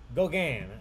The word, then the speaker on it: Gauguin: Gauguin.